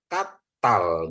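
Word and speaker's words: קַטָּל: pekerjaan kalau ini e bacanya jadi katal gitu ya kenapa katal karena ini ada dages ya Bapak Ibu saudaraku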